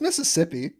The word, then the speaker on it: Mississippi: No, it's Mississippi. Well, they say Mississippi because it rhymes with trip.